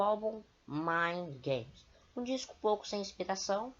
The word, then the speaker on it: Mind Games: Para você que não sabe o que é a pronúncia certa de Mind Games, escrita pronúncia Mind Games, M-I-N-D-G-A-M-E-S, Mind Games de 1973, que era um